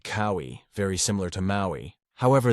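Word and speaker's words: Kauaʻi: In addition, one difference between cowi and Maui is the okina, the little apostrophe thingy. In reality, it's a slightly different symbol, but I'm lazy. This basically counts as a consonant and as a little pause. So basically the au and I sounds do not merge together because they are separated by the okina.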